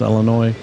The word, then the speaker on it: Illinois: uh Illinois um which I know how to pronounce Illinois uh because I was let's get it right Illinois Illinois yeah and Wisconsin Right Wisconsin Illinois yeah